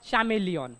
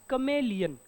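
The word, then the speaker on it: chameleon: विचार जर केला तर तुम्ही याला म्हणाल चमेलियन कस म्हणाल चमेलियन बट इट्स कमेलियन कसा आहे उच्चार याचा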